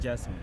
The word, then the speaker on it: Gerson: Right, so this is, I pronounce your name Gerson, but it's Gerson? Yeah. Depends on the pronunciation. Doesn't matter. So, what? I pronounce it Gerson.